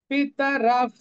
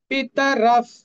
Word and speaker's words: पितरः: পিতারাফ, এই আচার্য যে এখানে একটা বিসর্গ ছিল এটা বলে এখানে লেখা হয়নি। পিতারাফ, পিতারাফ সবগুলি হর্ষ, বিসর্গের পরিবর্তে হাফ ফ।